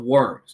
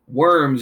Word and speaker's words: Worms: He was ordered to appear before a special church meeting called the Diet of Worms. Now, don't gross out. The term diet is a church term for meeting, and worms is actually pronounced Worms.